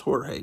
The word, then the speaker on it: Jorge: everybody in elementary school and say actually it's pronounced hor he no he's just going to say hey just